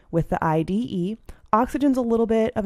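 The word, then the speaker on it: -ide: that last syllable with the IDE ending, pronounced "ide."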